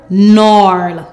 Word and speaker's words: gnarl: N arl gnarl.